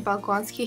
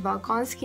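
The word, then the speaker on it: Bolkonsky: the balony family is Andre baloni Andre nikolich bonsky he's actually my favorite character and I think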